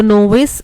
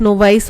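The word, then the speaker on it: novice: सो नोविस option A, नोविस नोवाइस option A is correct, ठीक है, दोनों pronunciation correct है, नोविस भी बोलते हैं नोवाइस भी बोलते हैं, so option A is correct.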